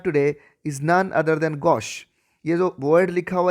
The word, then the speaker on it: gauche: that we have today is none other than gosh you know word liquor g a u c